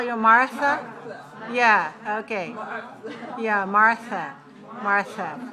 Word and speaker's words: Martha: again nothing nothing okay you know your name in in spanish you pronounce mata but in english we say martha right don't your american friends call you martha yeah okay yeah martha